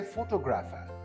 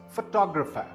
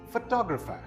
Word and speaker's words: photographer: I have heard a lot of people say photographer, but this word is not photographer, it's photographer. Again, photographer. The second syllable is the one that is stressed.